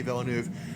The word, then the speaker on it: Villeneuve: Yes, I heard it pronounced, and if I'm pronouncing it correctly, it's Denis Villeneuve.